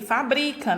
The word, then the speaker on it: fabrica: Da mesma forma, a palavra fábrica e fabrica, né? Muda a minha sílaba tônica quando eu retiro essa acentuação gráfica.